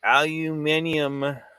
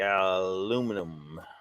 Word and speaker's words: aluminium: ex-boyfriend that's why there's x aluminium yes yes which is absolutely the appropriate way to say it mr lee aluminium but americans say aluminum so whatever gary says